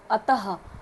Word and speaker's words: अतः: इसको उच्चारण करने में अतः ह के उच्चारण में आ रहा ना, हल्के से ह का समान होता है, तो जो ये क्या हो गया हमारा विसर्ग हो गया।